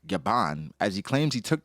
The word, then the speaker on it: Gabin: Oda reveals it's actually spelled Scapper Gabin, still pronounced like Gaban, as he claims he took the name directly from French actor John Gaben or Gaban.